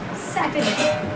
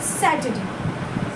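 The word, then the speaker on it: Saturday: सैटरडे। सैटरडे र को English में बहुत ज्यादा जगहों पे आप आगे जाएंगे तो इसको प्रोनाउंसिएट नहीं किया जाता है। बहुत रफली और इसको बोला जाता है जैसे सैटरडे।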